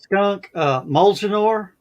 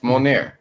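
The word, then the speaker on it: Mjölnir: So, Skunk, Molginor. Yeah. Molnir. You pronounced that wrong. It's Molnir.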